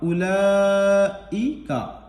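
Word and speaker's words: أُولَٰئِكَ: अब अगर काफ पर आपको रुकना है, वक्फ करना है, ठहरना है, सांस तोड़नी है, तो काफ ज़बर का को कायदे के मुताबिक काफ साकिन करके पढ़ देंगे। उलाइक, उलाइक, ठीक।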